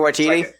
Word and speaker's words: Waititi: How do you pronounce the name? Waititi? Taika Waititi.